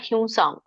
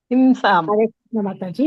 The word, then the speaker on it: ಹಿಂಸಾಂ: ಹೇಳ್ತಾರೆ ಹಾಗೆ ಅದು ಬಂದುಬಿಟ್ಟಿದೆ ಬಟ್ ಹಿಂಸಾಮ ಅದು ವ ಸ ಯರಲವ ಸ ಬರುತ್ತಲ್ಲ ವ ನೋಡಿ ಅಲ್ಲಿ ವ ಅನ್ನೋದು ಅನುಸ್ವಾರ ಆಗುತ್ತೆ ಅಲ್ಲಿ ಅನುನಾಸಿಕ ಆಗುತ್ತೆ ಹಿಂಸಾಂ ಅಂತ ಬರುತ್ತೆ ಹಿಂಸಾಂ ಓಕೆ ಮಾತಾಜಿ